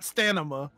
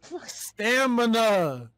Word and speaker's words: stamina: you say this amanda there's an m before the end not stanima there's no either stamina that's what i said